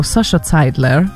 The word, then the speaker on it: Sasha Seidler: but we German yeah that very much looks like German so Sasha Seidler that's a correct way of pronouncing that after this little